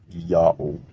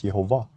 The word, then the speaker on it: Ya'oh: used letter J, but that letter J is Y sound in Latin, and the H is silent if not the first letter of a word.